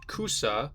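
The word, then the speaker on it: 草: And so if you use the Japanese kanji for grass pronounced cusa, you can represent that you're laughing.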